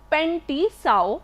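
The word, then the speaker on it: Pen T'sao: 2700 BC, he has written a book named Pen Ti Sao. It is pronounced as Pen Ti Sao or native herbal, and this herbal, it records around 365 drugs.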